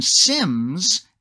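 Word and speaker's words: SIEM: helping them set up sophisticated systems maybe even sims and that is spelled s-i-e-m which is going to be a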